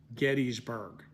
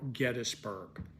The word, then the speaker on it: Gettysburg: know I'm very comfortable with people calling it Gettysburg or Gettysburg and um uh the fact of the matter